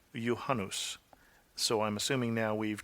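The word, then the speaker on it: Juhannus: to what Melissa said she seemed to pronounce the finnished word for the midsummer Festival as johanes where it should be yanus so I'm assuming now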